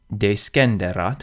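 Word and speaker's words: descenderat: Deskenderat has a prefix de, which itself forms the first syllable. And this prefix allows us to break one of our standard rules, and the rest follows convention.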